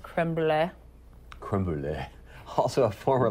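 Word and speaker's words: crème brûlée: I believe it's pronounced creme brulee.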